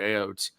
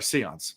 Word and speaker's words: Seon: think they spoke it through Aeons. Um or Aeon or Seons. Sorry, Seons. Se- Right. I can't say Aeons.